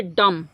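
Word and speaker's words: dumb: DU यम बी, इसको पढ़ेंगे डम। क्या पढ़ेंगे? डम। बी क्या हो गया? साइलेंट हो गया।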